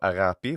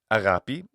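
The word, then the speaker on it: ἀγάπη: So agapi, what makes this a modern Greek pronunciation? The gamma becomes a fricative in later forms of Greek, later than this period.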